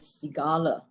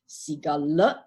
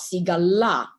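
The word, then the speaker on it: Sigāla: by the way is pronounced as Cigala or what duh is advisor seek Allah not seagull ah when you put in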